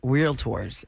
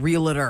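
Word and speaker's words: Realtor: the National Association of real real tor and it had it in parenthesis real tours like not real Ator oh real tour to pronounce it cuz there it's not it's not realator I know I don't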